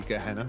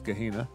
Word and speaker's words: Gehenna: I best pronounce it correctly, since it was actually voice acted to be Gehenna, as opposed to Gehenna.